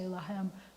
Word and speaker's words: lahem: The last word in Hebrew, them, is a two-syllable word. When he said it about his sister, it was lah, and we're going to say lahem, but we're going to say el, na, refa, na, lahem.